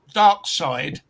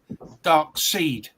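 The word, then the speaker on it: Darkseid: That Jack Kirby spelt Dark Side, Dark Seed. But everybody says Dark Side. I always say Dark Seed because why is Seed it is spelled that way? E-E-D, not E-I-D.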